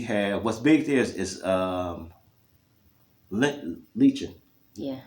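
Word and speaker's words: lechón: But anyway, I eat pork, and we have what's big there is lechon. Yeah. Lechon.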